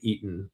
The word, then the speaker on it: Eaton: And I say eaten, it's spelled e a t o n. I'm not saying eating uh with the G left off.